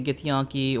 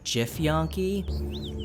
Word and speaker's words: githyanki: why we don't like the githyanki or the as i like to pronounce them the jif yankee i know i'm terrible